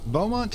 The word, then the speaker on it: Beaumont: let's recap well Mont as I'm now correctly pronouncing his name Beaumont is an immortal such as us he's already